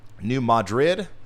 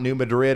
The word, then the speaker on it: New Madrid: New Madrid. So it's not New Madrid, it's New Madrid.